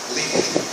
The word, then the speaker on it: Lincoln: Eu só conheço o primeiro nome, Lincoln. A pronúncia é Lincoln, só tem dois fonemas em inglês.